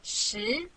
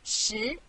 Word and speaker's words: 十: This is its syllable, 十. Repeat after me, 十.